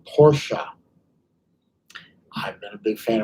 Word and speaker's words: Porsche: huge huge fan of porsche and it is pronounced porsche people say porsche need to be flogged it's porsche i've been a big fan of porsche since